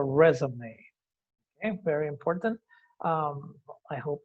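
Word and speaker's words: résumé: Remember that the word resume is a French word. Recordemos que la palabra Resume es una palabra francesa, por eso lleva lleva una tilde. Una de las muy pocas palabras que llevan tildes en inglés y se pronuncia resume.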